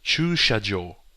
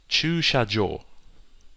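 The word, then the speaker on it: 駐車場: You have chu, like choose. You have sha, like in shop or shower. And then you have jo, like jump or gel or something.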